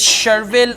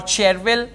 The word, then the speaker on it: Chervil: Listen up, it doesn't matter, you pronounce it as Cherville or Cherville, that's fine.